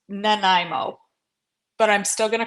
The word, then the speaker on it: Nanaimo: because I couldn't pronounce Nimo but but I've been educated both by Google and by Christy Carpenter that they are pronounced Nimo but I'm still gonna